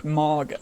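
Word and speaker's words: Mawga: Unfortunately, that is not a option because of the fishes, the Mauga, M-A-W-G-A is how that's how it's spelled. It's not like M-A-G-A, it's Mauga.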